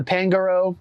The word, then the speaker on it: Pangoro: Gonna throw the Crunch here into the Pangoro, which is actually the right way to say it, everybody.